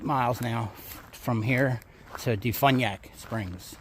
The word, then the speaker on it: DeFuniak Springs: I checked my Google Maps, and it's 8 miles now from here to Defuniak Springs. That's how you say it, or at least that's how Google said it.